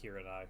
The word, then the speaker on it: Hiranai: It's pronounced Hiranai, not Hirani.